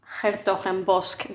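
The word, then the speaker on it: 's-Hertogenbosch: And his grandfather had moved from a different city to a place called s-hertogenbosch. That's how I pronounce it. Apparently it's unpronounceable except for the Dutch, and that's why they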